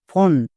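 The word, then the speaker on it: phone: তার মানে এখানে একটা সাইলেন্ট ই হবে। এবার হচ্ছে সঠিক বানান। Each O এন ই ফন।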